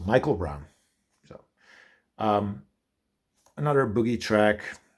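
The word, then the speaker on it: Miquel Brown: here it's pronounced Michael so that is pronounced Michael Michael Brown so um another Boogie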